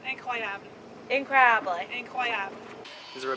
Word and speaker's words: incroyable: How do you say incredible in French? Isn't it like incredible? Incredible. Incredibly. Incredible. No, incroyable.